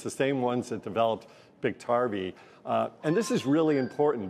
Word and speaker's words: Biktarvy: Is it Biktarvy, or how do you say that? Biktarvy.